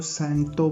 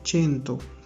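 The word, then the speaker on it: cento: इसको आपने ना तो सेंटो पढ़ना है ना कुछ और पढ़ना है, ये वर्ड है चेंतो, ठीक है।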